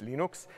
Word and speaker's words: Linux: My name is Linus Torvalds and I pronounce Linux, Linux.